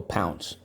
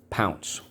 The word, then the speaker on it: pounce: So let's go, pounce. P, ow, n, s, silent E, pounce.